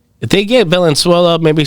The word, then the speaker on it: Venezuela: Of Venezuela. You're saying it wrong. What the fuck is it? What am I saying? Ne su la. Say it faster now.